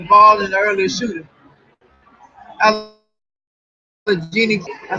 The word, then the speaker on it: Allegheny: Allegheny, I said it right.